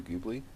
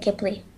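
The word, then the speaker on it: Ghibli: Anyway, so she pronounces it Gibli.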